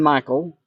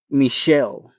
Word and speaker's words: Michel: and I'm here to offer their son Michael a scholarship. And maybe it's it's accurate to say maybe it's accurate to say Michelle. Michelle. M I C H E L.